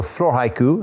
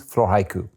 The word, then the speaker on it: Floraïku: So Floraïku, as in flora plus haikus, Floraïku.